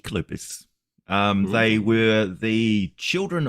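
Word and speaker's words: Κύκλωπες: Well, um, so Cyclops properly pronounced in Greek Kalupus.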